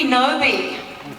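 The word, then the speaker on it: Knowby: Ruby Noby, Noby. with a silent K.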